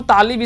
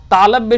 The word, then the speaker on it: तालव्य: तालव्य श, इसको हम तालिब सा बोल देते हैं, तालव्य श होता है।